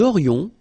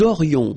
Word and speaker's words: aurions: J'aurais, tu aurais, il aurait, elle aurait, nous aurions, vous auriez, ils auraient, elles auraient.